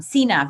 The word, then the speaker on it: Cena: where he wrestled with the likes of John Cena, right? Cena? Yeah, John Is that how you pronounce it?